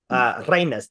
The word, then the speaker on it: Reinas: Reinas, Reinas, Reinas. And that is how you pronounce that. Reines?